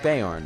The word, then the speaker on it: Beorn: bees in Beorn's house there was a guy that wasn't Bjorn no Bjorn Bjorn Bjorn was more how it's pronounced he's the bear guy